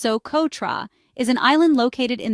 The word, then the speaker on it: Socotra: Soototra, pronounced Soototra, is an island located in the Arabian Sea